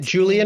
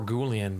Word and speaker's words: Gulen: Um, and the Billy, is it Julian or Gulen? Uh, I was going for Gulen, but I'm open. Gotcha. Hard G.